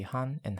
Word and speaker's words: 하나: The Koreans also say han and hana for the concept of 1, but they are not strictly tied to this character.